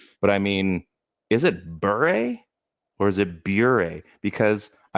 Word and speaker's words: Bure: I pronounce it Pavel Bure.